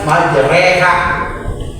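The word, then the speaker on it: مجراها: Pada lafaz majreha maka secara dibaca majreha, majroha jadi majreha.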